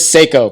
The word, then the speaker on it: Seiko: Is it Psycho or Seiko? It's Seiko, but I could pronounce it like Psycho.